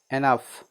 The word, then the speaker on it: enough: कुछ वर्ड्स है ना, कुछ शब्द में GH का उच्चारण क्या होता है, घ होता है। जैसे COUGH, काफ। काफ मतलब खांसी। ENOUGH, एनफ।